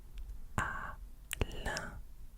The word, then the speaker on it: Alain: And for those that are learning French right now, it's the same sound we make with the word vin.